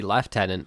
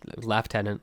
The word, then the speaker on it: Lieutenant: surely it should be Lieutenant if we're if we're doing proper British English um you know because that that is how it's pronounced is Lieutenant Lieutenant is American there you